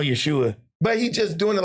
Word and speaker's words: Yeshua: No, it's Yeshua. Oh, that's Jeshua? Yeah. Spelled with J-E-W? The Y is like, the J is like a Y.